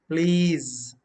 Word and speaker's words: please: word the same way s is also pronounced za here again please if not please please